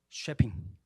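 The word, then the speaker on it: Shepping: 선교사님의 본명은 엘리자베스 요한나 쉐핑. 아마도 이 쉐핑을 한국식 발음으로 서평이라고 일컬었던 것 같아요.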